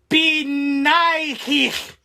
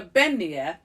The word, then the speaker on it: Beanighe: So the actual spelling of the pronunciation is Ben hyphen Nee hyphen Yeh. Like, yeah. Beignet. Yeah. Yeah. Okay, so this one was kind of wild. Mm-hmm. The Beanighe, which is Scottish Gaelic